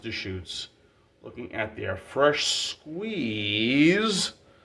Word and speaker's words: Deschutes: Today, we're looking at from Deschutes, or Deschutes, but it's pronounced Deschutes.